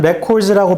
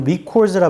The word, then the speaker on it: records: 명사로는 records라고 발음하고 동사로는 records라 발음합니다.